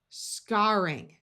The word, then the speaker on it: scarring: Again, although generally ARR will have a long A sound and sound like air, if the R is only doubled because we added a suffix after a root ending in just AR, then we keep the broad A sound.